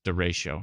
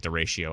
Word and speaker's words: derecho: I did say it like derecho. I always say derecho, but it's derecho. There's no shio. It's just derecho. A derecho. Like Horatio.